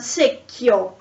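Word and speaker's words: secchio: k so for example in a sec yo the bucket you have double c and h so is k the sound is k so the rule doesn't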